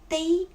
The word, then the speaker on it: 背: One is 背, first tone. Second is 背, the fourth tone.